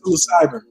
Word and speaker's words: psilocybin: Psilocybin.